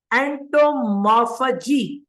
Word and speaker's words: entomophagy: इसको हम नाम देते हैं, इस वर्ड का एग्जैक्ट प्रोनाउंसिएशन होगा Entomophagy. It is entomophagy.